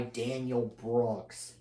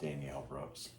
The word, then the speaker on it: Danielle Brooks: And that character is Don, played by Daniel Brooks. I believe that would be pronounced Danielle Brooks.